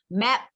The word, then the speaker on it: map: 그리고 이렇게 단어의 맨 끝에 오게 되면 어떻게 발음하냐면 마치 우리말의 받침으로 발음하시면 map 비읍인데 받침으로 그럼 어떻게 map 이렇게 되죠. map 아닙니다. map 더더욱이 이거는 몇 음절이에요? 1음절이죠. 그러니까 map 이렇게 하고 끝나셔야 돼요.